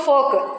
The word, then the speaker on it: folk: Yoke, folk. Okay. In next two words, L is coming after the letter U.